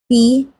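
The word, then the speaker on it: P': P, pronounced like the alphabet B, is a gender-neutral honorary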